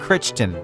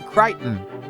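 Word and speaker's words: Crichton: I always thought Kitchen. I thought you pronounced it that way, but according to Google, you pronounced it Kiton.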